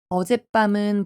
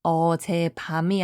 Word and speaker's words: 어젯밤: 어젯밤은 발음이 어제 밤이 아니라 어젯밤이에요. 어제와 밤 두 단어 중에 뒤에 있는 단어인 밤이 뺨으로 소리 났어요.